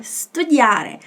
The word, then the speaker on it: studiare: pronúncia com relação a esse S aí, que esse S ele é mudo, tá? A gente tem a tendência de colocar um I ou um E antes de falar studiare ou studiare. Mas é só o somzinho do s, tá?